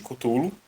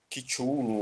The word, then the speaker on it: Cthulhu: que é o chamado de Cthulhu, ou Cthulhu, ou Cthulhu. Todos os termos usados pelo Lovecraft são termos, seriam alienígenas, né? Então, todos eles são de nomenclatura livre. Então, se você ouvir uma pessoa pronunciando diferente, não tem problema, também, a pronúncia também é válida.